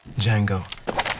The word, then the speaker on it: Django: dirty what's your name d Jango DJ a n g o the D is silent adult supervision is required